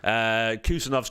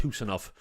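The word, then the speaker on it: Khusanov: Kusanov's coming in. Or apparently it's pronounced Husanov, because the case is sort of silent.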